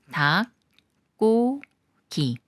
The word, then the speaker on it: 닭고기: 달기 꾸며 주는 말이고 리을 기억 받침 중에 리은 생각 말고 기억과 기억이 만나는 거라서 기억을 쌍기역 소리로 읽어요 닭고기 닭고기 기억 받침이 디귿을